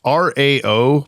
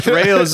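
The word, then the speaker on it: Rao's: It's RAO pasta sauce. I think you pronounce it Rayo.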